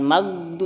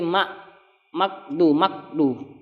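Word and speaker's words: المغضوب: Ketika dia tahan, jadi bacanya bukan magdu tapi makdu. Jadi huruf kaf jadinya. Jadi kenanya bukan huruf ghain, bukan huruf tenggorokan, larinya ke pangkal lidah jadinya makdu.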